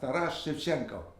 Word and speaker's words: Taras Shevchenko: Taras Shevchenko.